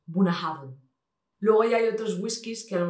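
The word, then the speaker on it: Bunnahabhain: vemos tantas palabras juntas, es Bunahaven. Pero es muy sencillo, precisamente, aunque veamos tantas letras, es de las más sencillas, Bunahaven.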